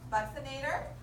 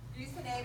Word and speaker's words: buccinator: Buccinator. Buccinator or buccinator are the two more common ways of pronouncing it.